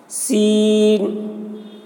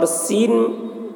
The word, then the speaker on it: سین: کو اخفا کہتے ہیں۔ سین، سین کے تلفظ میں یا حرف مد ہے، اس کے بعد نون ہے جو سکون ہے، تو حرف مد کے بعد والے حرف، والا حرف سکون ہے اور حرف مقطعات میں سے ہے، اس لیے مد